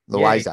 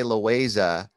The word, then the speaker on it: Loayza: Well, the thing is like Americans call it, it's Loayza to them, but it is Loayza. Yeah. So, I was thinking about it because I used to say Loayza when we were at CalArts together.